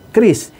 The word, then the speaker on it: QRIS: Tulisannya QRIS, bacanya kris, yang singkatan dari QR Code Indonesia Standard.